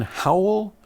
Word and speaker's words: Howell: question from Kim in Howell Michigan how know it's spelled H o w e how often do you get the howl on YouTube right I don't